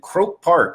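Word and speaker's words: Croke Park: Croak Park, I believe is how you say the stadium name.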